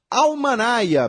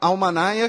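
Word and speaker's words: Almanya: E, finalmente, um abraço para Renata Vitor, mandou uma mensagem lá no Facebook, sugerindo o filme Almanaya, bem-vindos à Alemanha. Almanaya, que é a pronúncia de Alemanha pelos imigrantes turcos, que é ela disse, palavras dela, tá, gente?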